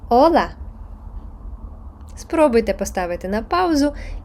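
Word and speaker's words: hola: і давати свою інтерпретацію літера а ч аче яка не читається Ола спробуйте поставити на паузу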